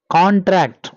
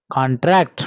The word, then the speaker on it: contract: noun and verb but we have to give stress at the beginning for the noun and stress at the end for the verb observe here we have to pronounce this word as contract for noun and contract